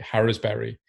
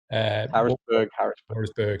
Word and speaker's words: Harrisburg: So moving on from, apologies, my pronunciation isn't right. Harrisbury. Harrisburg, sorry.